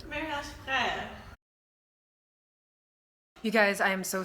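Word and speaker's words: Mariage Frères: It is, I can't pronounce this brand, Mariage Free? Mariage Free? But it's Marco Polo. Mariage Frère.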